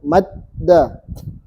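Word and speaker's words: مدّ: tasdid kepada huruf sin menandakan hurufnya itu ditekan misalnya begini apa bacanya ini madah tapi kalau ada tasdidnya maka dalnya ditekan madda madda sukun sebenarnya eh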